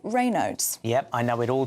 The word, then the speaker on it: Raynaud's: Now, Raynaud's is the right way to pronounce it?